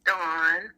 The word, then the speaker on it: Daun: I love how everybody pronounces my name so French. It has the French spelling, but it's Dawn.